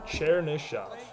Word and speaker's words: Chernyshov: That's the pronunciation. Chernyshov. Chernyshov. I like 2 ways, but it's Chernyshov officially.